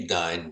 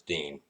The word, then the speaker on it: Dein: know that's spelled d-e-i-n german should be dying but it's not it's dean i live in north